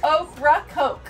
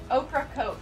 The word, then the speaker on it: Ocracoke: can't say that word ocracoke oh coke what am i saying wrong oak rock coke yes there you go oprah coke i don't know why